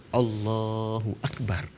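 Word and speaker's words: الله أكبر: Kemudian Allahu Akbar. Panjangnya hanya boleh pada Allah. Enggak boleh juga dipanjangkan pada hu, enggak boleh dipanjangkan pada ak, tidak boleh dipanjangkan pada bar, hanya dipanjangkan pada Allah.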